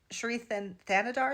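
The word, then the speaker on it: Shri Thanedar: Sherethan Thanodar is how you say his name.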